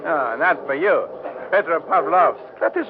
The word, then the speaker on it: Petropavlovsk: Petropavlovsk. It is not hard to say. Oh, that's for you. Petropavlovsk.